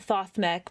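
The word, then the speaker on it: Thothmekh: Obviously, I'm going to leave with obviously this is not how you say his name. Thought him. He is a thought. Obviously, you say it Thothmeck, but thought minds and strikes from the shadows.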